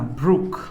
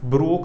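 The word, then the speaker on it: brook: इसके लिए ध्यान रखना, ब्रुक, ये वर्ड यूज होता है, ब्रोक नहीं बोलना है इसको, ब्रुक, प्रोनाउंसिएशन इज ब्रुक, है ना, इस चीज को ध्यान रखिएगा।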